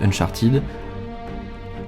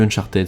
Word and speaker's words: Uncharted: jeux j'ai nommé uncharted et si vous faites partie des gens qui disent uncharted arrêtez s'il vous plaît et oui la prononciation anglaise c and child et donc on est plus proches de ted que de ty c'est un élément qui